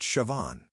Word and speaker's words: Siobhan: Her name was Siobhan, pronounced Siobhan.